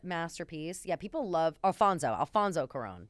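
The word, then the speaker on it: Alfonso Cuarón: Alfonso Coron. That's how you say it.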